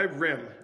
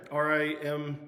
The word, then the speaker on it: rimg: now uh real quick on the name why Rim r i m g it's pronounced Rim r m spelled Rim rimg why